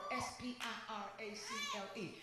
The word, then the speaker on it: spiracle: I looked the word up, spiracle, S-P-I-R-A-C-L-E. It's spelled the same way as miracle, but instead it's spiracle.